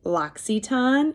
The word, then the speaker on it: L'Occitane: And like when I first heard about our brand partnership with L'Occitane, it's spelled like L apostrophe OCCITAINE, something like that.